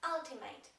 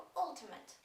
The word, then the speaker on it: Ultimate: tej polskiej wersji reklamy użył słowa Ultimate pomimo że wymawia je się jako Ultimate No dobrze Moi drodzy